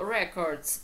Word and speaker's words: record: Существительное у нас ударение падает на первый слог, а у глагола на второй.